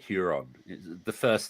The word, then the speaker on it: Huron: How do you pronounce his name, like Huron? Is it the first name, Luft or... It's Luft, yeah. And Huron, yeah.